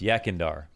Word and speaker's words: Yekindar: of 2021 saying yakindar so i know it's pronounced yakindar but i might say it incorrectly so i'm